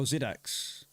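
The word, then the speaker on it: Xidax: I think X is pronounced with a Z. Oh, Zidax.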